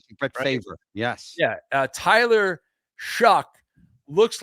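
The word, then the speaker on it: Shough: The story here has been Shuck, not Suck.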